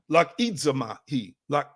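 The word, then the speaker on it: λογίζομαι: The word think here in this text, again, logizomai, lakidzamahi is how you pronounce that in Greek.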